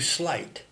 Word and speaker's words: sleight: of the verb to slight. S-L-E-I-G-H-T. Now please note that the word to slight, the verb to slight, the infinitive, should not be confused with something that sounds identical but is spelled differently.